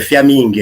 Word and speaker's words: Fiamin: Fiammingue, tá certo a pronúncia do teu sobrenome? Fiammingue? É Fiammingue, é isso mesmo.